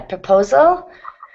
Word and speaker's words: proposal: Yep, 3 syllables. Proposal. The L. Proposal. Yeah, the last syllable is kind of swallowed, but yeah, proposal.